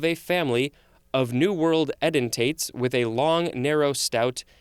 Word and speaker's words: edentates: I didn't know if I pronounced that correctly. It could be edentates or something like that. It is edentates.